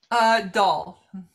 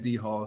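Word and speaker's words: Dhall: Is it Dahl or D-Hall? How do I pronounce it? Dahl. Okay, I'm always saying D-Hall, so you'll have to forgive me.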